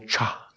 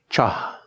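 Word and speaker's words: kṣa: The Naropa system of 6 yogas, one puts the syllable cha, cha, K-S-H-A, but in Sanskrit they can put these sounds together quite easily. Like in English we put together K-N-I-F-E and it still comes out sounding okay. Cha, and in the navel the syllable ah.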